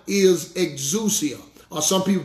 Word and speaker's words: exousia: That Greek word in Matthew 10 and 1 is exousia. Or some people pronounce it exousia.